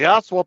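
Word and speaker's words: Ostwald: made from the good careful the pronunciation the Oswalt process another German the aswal process and guess what the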